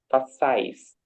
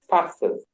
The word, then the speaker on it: façais: The the correct pronunciation is façais. Thank you. Façais. Okay, Yes. very good. Façais. I think I said façais, so it's the You say faças. Faças. okay. So façais.